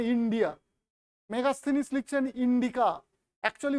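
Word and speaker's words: Indika: থেকে ইন্ডিয়া এটা ইংরেজি উচ্চারণে ইন্ডিয়া মেগাস্থিনিস লিখছেন ইন্ডিকা একচুয়ালি উচ্চারণটা হচ্ছে ইন্ডিকা ইন্ডিকা ঠিক আছে ইন্ডিকা বানানটা কিন্তু বের্ভাগ জায়গায় ভুল লেখা আই এন ডি আই সি এ না কে এ ইন্ডিকা বানানটা কিন্তু actually I এন ডি আই কে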